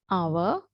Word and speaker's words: hour: So we will start with silent H today and the others we will do as we go along, right? Okay, so listen carefully. What, when, why, which, whether, ghost, honest, hour, while, white, via, rhythm, right?